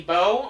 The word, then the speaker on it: Bow: For story reasons, let's swap back to Lady Bo. I'm going to try and call her Bo, because I do think that that's how you're supposed to pronounce her name. Again, because of the bows on her head.